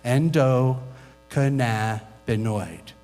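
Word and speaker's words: endocannabinoid: the endoc canabo system it's six syllables try it with me Endo cannabinoid endoc canabo system is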